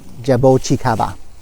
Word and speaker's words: jabuticaba: how you say it I actually had a have a Portuguese coworker he's saying it this is the Jo Chi Kappa so I'm gonna say it's jabo Chi kava long on these twigs